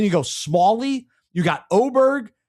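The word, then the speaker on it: Åberg: Then you go Smalley, you got Oberg. So you you better know how to pronounce that cuz that looks like an A to me. So Oberg.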